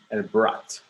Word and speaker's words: brought: Okay, vamos a ver el brought. Es como but, pero con R, ¿no?